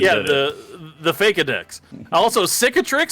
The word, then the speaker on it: cicatrix: Is cicatrix? Yeah, it's cicatrix.